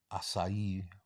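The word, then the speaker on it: açaí: So I like those acai bowls.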